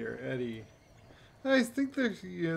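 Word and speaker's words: ED-E: want to get up edie or eddie i think there's you know they want you to pronounce it edie but i always pronounce it eddie or eddie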